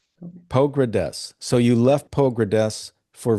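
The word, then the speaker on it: Pogradec: to stay in Albania because you left this pronounce that lake town again. Poggradets. Pogrades.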